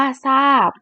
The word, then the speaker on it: ทราบ: ค่ะ ทราย อ่าน ว่า ทราย ทราบ อ่าน ว่า ทราบ อินทรีย์ อ่าน ว่า อินทรีย์ ทรัพย์ อ่าน ว่า ทรัพย์